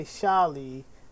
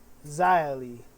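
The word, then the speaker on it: Xia Li: people were asking me why did I say shali and not zai Li well because I've studied Mandarin and the sheet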